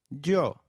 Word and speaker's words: yo: please Nosotros and nosotras the Y is pronounced like the English Y in some areas sounding just as it would in English while in others it takes up the sound of the English letter j the forms of you